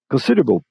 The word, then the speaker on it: considerable: Geralmente esse able, lembre-se que able como sufixo não tem som de a aqui.